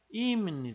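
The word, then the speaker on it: 입니다: o nosso pezinho aqui mas como vem esse n depois ele acaba ficando com o som de m então é por isso que a gente pronuncia como M então fica imune tá imune dar que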